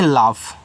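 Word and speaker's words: laugh: एल ए यू जी एच इसको पढ़ते हैं लाफ।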